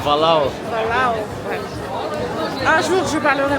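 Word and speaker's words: Bolhão: Ça se prononce Balao Bo.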